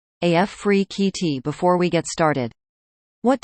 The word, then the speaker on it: Afrekete: at work from home jobs pronounced AF free QT before we get started